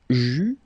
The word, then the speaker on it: eus: Okay, so j'eus, final S not pronounced.